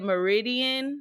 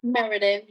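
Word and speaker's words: Meriden: Is it Meridian? Is that how you pronounce that? Meridan. Meridan. Okay.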